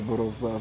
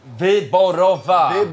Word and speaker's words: Wyborowa: Am I saying it right? Wyborowa. Wyborowa.